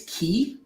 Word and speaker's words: Quay: it's i'm told it's key um so we bought core os and they were like yeah and we bring along our product and it's actually pronounced key and we all kind